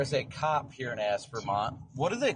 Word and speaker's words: Aspermont: Aspermont. Okay. So, Aspermont has three syllables. It's Asper. As Vermont.